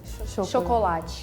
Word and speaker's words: chocolate: I think the biggest difference, even with you, is that we don't say cho at the beginning, we say sho. Chocolate. And the T then, it's like chi sound.